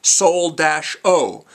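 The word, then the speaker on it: Seoul-Oh: Han, by the way, his name is Solo, only it's spelled Seoul as in the city in South Korea, Seoul, right? Seoul-O. Han Solo.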